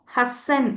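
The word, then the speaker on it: はっせん: ஆனால் 8 × 1000 என்னன்னு சொல்லுவோம்? ஹசன் அப்படின்னு சொல்லிடுவோம்.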